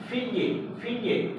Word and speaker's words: fille: ठीक, जैसे देखो यहाँ पे फिये, इसे कैसे पढ़ेंगे? FILLE, फिये। इसे फ्रेंच में पढ़ा जाए क्या? फिये।